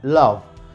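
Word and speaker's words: laugh: por ejemplo la palabra lado esta palabra como pueden ver termina en vocal en la vocal pero al pronunciarla lo termina en un sonido de consonantes el sonido de la de labio dental entonces no se dejen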